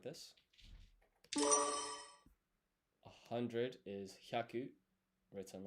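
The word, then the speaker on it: 百: 100 is hyaku.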